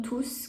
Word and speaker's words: tous: Rappelle-toi dans cette partie que pour tous, on prononce le S.